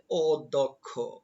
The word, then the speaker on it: অধ্যক্ষ: উচ্চারণগুলো দেখি যেমন প্রথম শব্দ রয়েছে অধ্যক্ষ এটার উচ্চারণ হবে অধ্যক্ষ অধ্যক্ষ অধ্যক্ষ অধ্যক্ষ এরপরে রয়েছে অত্যাচার অত্যাচার শব্দটির উচ্চারণ